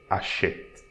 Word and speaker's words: achète: So we pronounce it E, and we have silent E at the end, so we'll pronounce the T before. So achète. Achète.